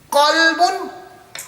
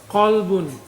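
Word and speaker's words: قلب: There we have next, kalbun. With a kaf. A kalbun is a dog. Right? Qalbun, a heart. Kalbun, a dog.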